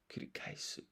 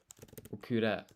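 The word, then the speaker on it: 繰り返す: Kurikaisu. Wait, I almost messed up there. Kuri. Kure. No, kurikaisu. Kurikaisu. Kuri. I keep making this mistake with this I and the E.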